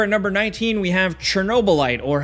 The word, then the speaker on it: Chernobylite: Next, over at number 19, we have Chernobylite, or how it's actually pronounced. It's kind of like Chernobyliat.